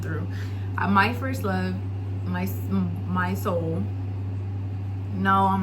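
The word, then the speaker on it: Sol: I'm gonna call him Soul, and I'm gonna spell it like the girl from Love Island, like S-O-L, but that's what he calls himself, Soul, like something to Soul.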